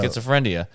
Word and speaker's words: schizophrenia: schizophrenia. No, I it's got just this spelled- frenia and frenia. He's a frenia. It's just spelled with an E. Yeah. That's it. Yeah. E sound not A.